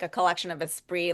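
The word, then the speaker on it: Esprit: I want Aspree gear now, too. I don't think I pronounced that correctly when I was a kid, though. Espree. I think I probably spirit. I was like a spirit.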